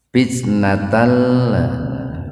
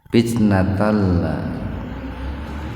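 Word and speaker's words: فِتْنَةً لَّا: Fitnatalla fitnatalla idgam bila guna fathatain ketemu lam. Jadi membacanya dimasukkan ya diamkan itu dimasukkan ke huruf lam tanpa mendengung. Jadi karena tanpa mendengung jangan ditahan dua ketukan, Pak. Fitnatalla. Jadi jangan begini, jangan fitnatal, jangan begitu. La mad thobi'i alifi mad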